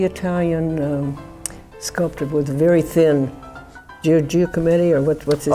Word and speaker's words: Giacometti: Well, they're kind of like, who's the Italian sculptor with very thin, Giacometti, or what's his name? Giacometti, yes. Yeah, they're kind of like, because I might not be because they're all pronouncing it very, correctly.